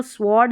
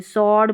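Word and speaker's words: sword: इसको स्वॉर्ड नहीं पढ़ते, सॉर्ड पढ़ेंगे, इसको W साइलेंट रखना है।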